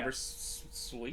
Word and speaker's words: Beversluis: Beversluis. Sluice. Sluice. Just sluice. I just got to remember... The I is silent, basically. Sluice.